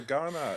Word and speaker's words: Ghana: So Ghana with a G, even though it's spelled with a K.